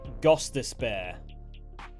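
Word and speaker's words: Gostisbehere: once more with feeling that is pronounced Shane gos despar G be love to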